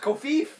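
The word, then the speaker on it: covfefe: You need to realize it's pronounced Kofif.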